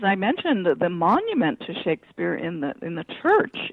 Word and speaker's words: Shakespeare: documents of the period the name was pronounced Shakespeare um with a short a.